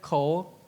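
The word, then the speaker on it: 口: It's pronounced as Kou, but assume you don't know.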